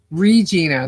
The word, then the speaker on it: Regina: Oh, so it's Regina. Then why is it spelled with one e? Regina. Regina. Huckle. Huckleji. Reginina. Regina. It's reginina. Rhymes with vagina.